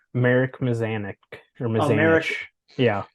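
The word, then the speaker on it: Mazanec: Marek Mazanik or Mazanich. Oh, Marek. Yeah. Marek Mazanich.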